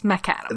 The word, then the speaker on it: Maccadam: Now I know how to pronounce McAdams, which uh it's Macadam.